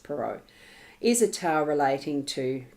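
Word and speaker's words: Perrault: writing Hood by Charles perau peral I think it's pronounced pero is a tale relating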